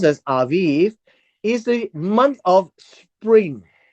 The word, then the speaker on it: Aviv: month of aiv the month of Aviv it's pronounced as Aviv is the month of spring many of us